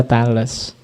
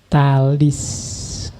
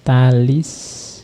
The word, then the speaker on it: Thales: bahas Inggris juga gitu kalau pakai dialek Inggris kadang memang dibaca Tales tapi pakai lidah Yunani sebenarnya bacanya talis Iya talis of milicius meskipun tulisannya